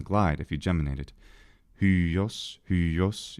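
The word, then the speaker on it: υἱός: Hyos, hyos, you have a little yodish sound in there. It just happens to be rounded at the same time.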